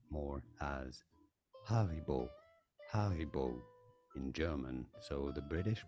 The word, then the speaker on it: Haribo: In British English, this is normally said as Haribo, an emphasis on that first syllable.